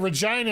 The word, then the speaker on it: Regina: oh you're talking about Regina and saskatch it's reeg Regina Saskatchewan the place that rhymes with fun biggest that's the biggest